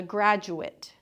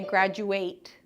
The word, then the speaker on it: graduate: So, here the person graduating is called a graduate. And we really soften that sound. We don't say graduate just for the verb.